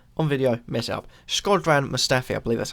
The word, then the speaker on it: Shkodran Mustafi: Shkodran Mustafi, I believe that's how you say it.